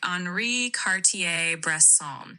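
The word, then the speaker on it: Henri Cartier-Bresson: So, it's a French name with a bit of that French flare in the pronunciation.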